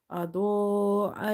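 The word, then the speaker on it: أضاء: Okay, so you will say absarahum, absarahum, kullama, kullama, adaa lahum, adaa lahum. Dod is heavy from the musta'aliya letters, and this alif is madde muttasil, so you will stretch up to 2.5 alif. Adaa lahum, adaa lahum mashaw.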